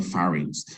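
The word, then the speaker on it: pharynx: have the fars and that is spelled pH pH gives the F Sound by the way p h a r y n the farings many people call the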